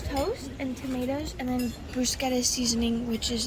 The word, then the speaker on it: bruschetta: I said it right, but Americans say it wrong. What do they say? Toast. And then, oh, I don't know. They say bruschetta, but it's bruschetta.